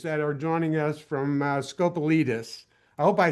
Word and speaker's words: Scopelitis: Um, as I said, uh, we have two attorneys that are joining us from Scopalitus.